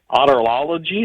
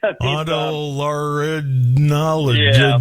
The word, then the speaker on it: otolaryngology: The American Academy of otolology. Is that how you pronounce that? Head and neck surgery? Otolaryngology. Yeah.